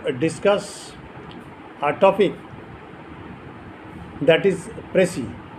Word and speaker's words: précis: Just like this, précis is also a French term and S remains unpronounced.